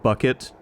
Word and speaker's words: bouquet: It's pronounced bucket.